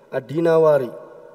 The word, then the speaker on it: Ad-Dinawari: Ibnu Qutaibah di sini adalah Abdullah bin Muslim Ibnu Qutaibah Ad-Dinawari. Ya, ini disebutkan ya cara membacanya adalah ya dari negeri Dinawar.